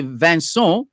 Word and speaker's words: Vincent: a french background so vincent would actually be vanson and his surname d-e-r-o-u-l-e-t would actually be pronounced de rouley de rouley de roulet so